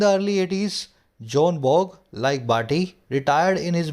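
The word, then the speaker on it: Björn Borg: 83 की, तो एक जॉन बॉग नाम का खिलाड़ी था। यहाँ पे बी साइलेंट है ना, बी जे जब भी आए ना, बी और जे साथ में है तो बी साइलेंट होता है।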